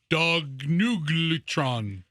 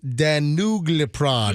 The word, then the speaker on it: danuglipron: name of the drug is Danuglipron.